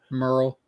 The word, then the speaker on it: Murrell: You pronouncing his name. What was his name? Merle. Dan Merle.